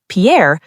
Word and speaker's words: Pierre: Pierre, or C. Rapid City? This one stumps almost everyone. The answer is B. Pierre, pronounced pier.